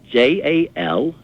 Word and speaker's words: Jallo: My concern is, having worked with West Africans, the man's name is Jallo, pronounced phonetically spelt in English, Jallo.